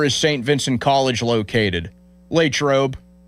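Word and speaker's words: Latrobe: Lrobe It's just like Latroe is shorter syllables, so it's that I think that's why it sounds smoother.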